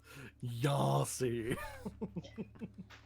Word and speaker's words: Yasi: which I do have to say rhymes with Darcy, and every time you say it, my ears flinch. Yasi.